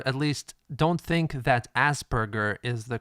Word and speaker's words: Asperger: Now, in my feeling alone, possibly mutual with others, the name Asperger, it strikes me badly, and I feel offended just by hearing the word.